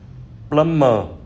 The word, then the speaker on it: plumber: Và kế đến là từ bê câm thì có bốn từ: debt là món nợ, subtle là tinh tế và nhẹ nhàng, plumber là thợ sửa ống nước, climbing là leo trèo.